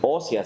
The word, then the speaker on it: Oseas: Porque muchas veces, pues incluso cometemos el error de pronunciarlo de una manera incorrecta. Hay quienes dicen Oseas, Oseas, y o sea esto, o sea lo otro, o sea, sí entendemos que no es correcto, ¿verdad?